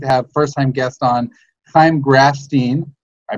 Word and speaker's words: Chaim Grafstein: I'm super duper stoked to have first-time guest on Chaim Grafstein. I pronounced that correctly?